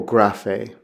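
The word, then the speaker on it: γραφή: Now, regularly, the gamma makes a hard G sound, like what you'd have in goat or give. There's the example graphe.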